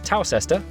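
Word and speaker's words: Towcester: mous hole mous hole next travel North after toester to then a quick jump to Gotham go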